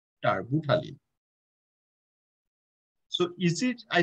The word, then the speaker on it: terbutaline: So that's, you can say Arbutalin. It, the pronunciation is T-E-R-B. And also U-T-A-L-I-N-E, Arbutalin.